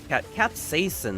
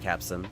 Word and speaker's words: capsaicin: Capsaicin, that's what it's pronounced, not capsin.